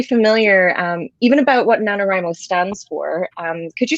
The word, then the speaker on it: NaNoWriMo: to explain this so nanowrimo sometimes mispronounced as nanowrimo but it's nanowrimo emphasis on the writing it's an acronym for